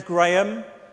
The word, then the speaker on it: Graham: am my name is Graham uh it's spelled with an h and you don't pronounce the h by the way so it's not Graham but I don't get